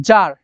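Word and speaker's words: czar: I tsunami ঠিক আছে এরকম আরো আছে জার ঠিক আছে জার বানানটা সিজে এ আর সিজে এ আর ঠিক আছে যার ওকে তারপরে হচ্ছে সিসট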